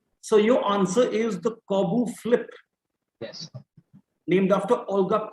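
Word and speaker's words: Korbut: So your answer is the Corbu flip. Yes. Named after Olga Corbu. The T is silent.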